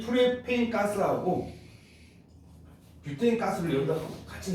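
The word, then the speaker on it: propane: 그래서 우리는 아주 옛날식 발음으로 프로판 가스 뭐 이렇게 한다. 프로판 가스 들어봤니? 프로판 가스, 부탄 가스 이렇게 부릅니다. 원래는 뷰테인 프로페인입니다. 얘를 간단해요.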